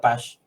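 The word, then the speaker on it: Paasche: ustedes lo pueden expresar como está escrito el método de pach que es un francés que lo lo desarrolló pero se pronuncia Paz emplea Las ponderaciones del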